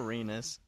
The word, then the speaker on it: Renus: I'm still waiting to change my mech It rhymes with penis, people. Come on. Someone help me out here. Poor Renus.